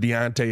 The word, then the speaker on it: Deontay: I have literally scoured the internet on how to say these mugs' names because I want to be getting them right. I have heard Deontay every time.